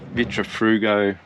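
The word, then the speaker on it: Vitrifrigo: quite a big fridge i've got 150 uh vitra frugo that's how you say it fridge and going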